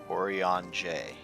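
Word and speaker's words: Urianger: if i could ever say no to urianje orion j that's how you're pronouncing an accomplished charlie and scholar orientation technologies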